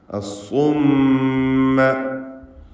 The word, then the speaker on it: الصم: അസ്സുമ്മ. മീം മുശദ്ദദയെ മണിക്കണം. ഷദ്ദ് നൽകപ്പെട്ട മീം 2 ഹറക്കത്തിൻ്റെ അളവിൽ മണിച്ചുച്ചരിക്കുക.